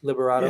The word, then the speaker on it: Liberato: Liberato. Yeah. Somebody asked him, they said no details, but who like is Rebecca Walters the daughter? And he said, I heard it was Liana Liberato's character, which if that's the case, oh no,